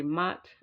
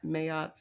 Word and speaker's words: Ma'at: to mayat so um I know most people just say mat um but once I heard the pronoun the pronunciation mayot I that sounded right to me so I've been calling